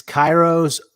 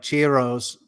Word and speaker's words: Cheiro: okay a classic it's Cairo's book of numbers all right there's Cheerios yeah that is pronounced like that like Cheerios she rose but it's pronounced Cairo and not his real